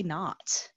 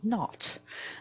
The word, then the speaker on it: naught: pronounced in math and physics, so is y naught. So it's spelled like this, naught meaning like zero, like nothing, naught.